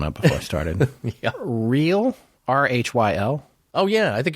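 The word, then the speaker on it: Rhyl: Real, R-H-Y-L.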